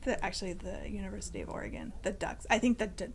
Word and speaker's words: Oregon: I bet yeah because some people say Oregon someone should say how you actually pronounce it Oregon we're gon just saying that's a native Oregonian it is Oregon um next I have